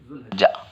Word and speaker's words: ذوالحجہ: طرح ہوتا ہے۔ لیکن ہمارے لوگ کبھی ذو پڑھتے ہیں، کبھی ذا پڑھتے ہیں، کبھی ذی پڑھتے ہیں، تو ہم لوگوں کو وہ سب حالتیں یہاں نہیں آتی اردو زبان کے اندر۔ تو صحیح تلفظ کا جو ہے ذوالحجہ، کچھ لوگوں نے ذی